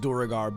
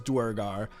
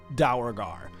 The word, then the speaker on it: duergar: even know of it oh and it is pronounced durgar by the way there are two canonical pronunciations one is durgar the other one is duergar that's literally coming from the top i have